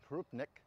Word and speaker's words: krupnik: I pronounce it Krupnik.